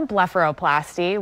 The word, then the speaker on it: blepharoplasty: surgery it's got a difficult for me to pronounce name what does it call so it's called a blepharoplasty we often call it a bluff for short